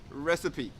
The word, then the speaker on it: recipe: sip at a sip okay but the correct pronunciation is recipe baking a cake is easy as long as